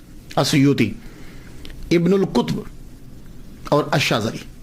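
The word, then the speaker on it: أسيوط: तो वो कहते हैं असयूत अलिफ के ऊपर ज़ के ऊपर पेश या के ऊपर पेश वाऊ साकिन सुयूत तो जब ये चल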